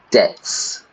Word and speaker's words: debt: to be bankrupt when you cannot pay your debts debt d e BT but we don't pronounce the be to money so if you're